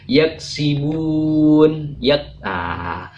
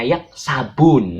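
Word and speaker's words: يَكْسِبُونَ: Tapi jangan sekali-kali bacanya yaksabun, nanti dimarahin Pak Ustaz. Jadi yaksibun, sabun ini hanya sebagai fasilitas saja agar kita mudah mengingatnya, sabun. Mimma yaksibun, bukan mimma yaksabun, tapi mimma yaksibun.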